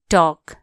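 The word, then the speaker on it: talk: H watch कुरा गर्नो टॉक टी ए एल के टॉक एल यहां के हु्छ साइलेंट टॉल कोना टॉक टी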